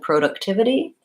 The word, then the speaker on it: productivity: my vowel sounds so product has first syllable stress productivity or productivity I think I say productivity productivity has provide a third syllable stress and production as second syllable stress production so those are